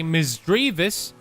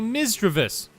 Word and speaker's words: Misdreavus: both ways they say misdreavus and they also say misstravus so I chose to pronounce it the same way I Say mischievous like ooh you mischievous